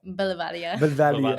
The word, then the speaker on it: Boulevardia: But if you go to Instagram, TikTok, or Twitter, as Jess said, it's at BLVDIA, pronounced how? Boulevardia. Boulevardia. With the accent.